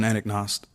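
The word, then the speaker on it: Anagnost: names in the city what's how do you pronounce his last name John anaknost okay and and who is he with John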